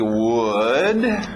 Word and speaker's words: would: temos o primeiro aqui would mesma pronúncia que nós vimos com could lembra não é a resta pronúncia é a mesma coisa que good aquele som do soco na barriga uh good could que aí sim é a mesma uma pronúncia de madeira Wood Ok Wood muito bom